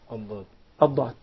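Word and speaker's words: ضاد: So basically, the tip of the tongue has nothing to do with pronouncing ad-dad. But it's involved in pronouncing the dal. Yeah. That's why it's a mistake to confuse the dad with the dal.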